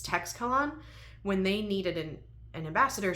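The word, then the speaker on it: Teixcalaan: So when that planet, Texcalan, needs, I did listen to the audio for a sample so I could see how to pronounce it. It's Texcalan.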